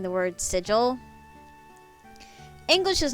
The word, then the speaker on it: sigil: trouble saying the word sigil English is not her first language her first language is Taiwanese and so she kept saying like in trying to pronounce that she kept saying Siegel SiC Siegel I know